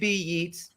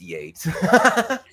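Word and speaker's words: Yeats: The first being, oh wait, it's Yates, not Yates, right? I'm talking to an artist and well, you know, like WB Yeets, it's Yates.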